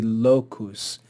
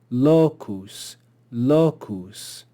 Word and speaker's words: locus: that's only two syllables here we see Locus so we know that the accent will be on the first syllable or on the penalt locus Locus here we see uncaps